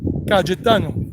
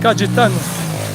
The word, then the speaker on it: Cayetano: And this is called San Cayetano. the Y in Spanish, you don't pronounce it like in English, like yellow or yes. You pronounce it like J, like Jack. San Cayetano.